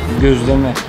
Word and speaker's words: Gözleme: I need to ask this name Gözleme Goe.. Gyozu.. Reme Kyozureme~ (Pronunciation between goe and gyo) Gözleme Oh this...